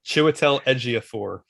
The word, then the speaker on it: Chiwetel Ejiofor: Chiwetel Ejiofor.